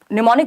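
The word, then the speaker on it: mnemonic: एम से शुरू होता है, एम साइलेंट है, तो ये निमोनिक है।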